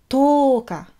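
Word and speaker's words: とおか: Ensuite, le 10, toka. On allonge le O.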